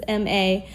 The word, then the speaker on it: Malama: I think it's pronounced Malama. It's Malama. Hawaiian word. Is that? Yeah, Malama means to take care, so maybe that's why they call it Maybe that's that.